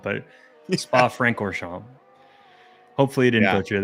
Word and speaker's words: Francorchamps: is the Belgian track it's Spa I believe it's Spa franor shamp there's an extra R in there because I would think Franco shamp but spa franor shamp hopefully he didn't go